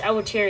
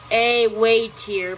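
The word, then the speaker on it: Awatear: Oh, it's Awatir again. It's pronounced A-way-tier, but whatever. Wait, how is that spelled again?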